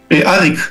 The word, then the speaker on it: Arik: ¿Arik se pronuncia? Arik, sí.